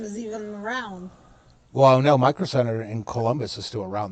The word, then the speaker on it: Micro Center: Well, Microsoft Center, June said it wrong. Micro Center.